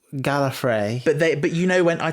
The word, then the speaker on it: Gallifrey: I think Tom Baker was quite well known for his playful pronunciations of things, and I seem to remember him saying Gallifrey instead of Gallifrey, but other Doctors all say Gallifrey.